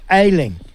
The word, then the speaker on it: Ayling: Now, just help me, if I get your name wrong. Is it Ayling?